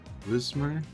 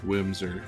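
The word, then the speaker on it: Whismur: Oh, there is a, what is it, Wismer? I think I've always pronounced it Wimser, and I'm just now seeing that I had the letters mixed around.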